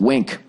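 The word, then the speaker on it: Winc: here um all right wink pronounced wink w-i-n-c all right finding a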